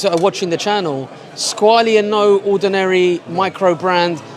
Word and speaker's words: Squale: The right pronunciation is in French, and it's Squale because it's from Neuchâtel.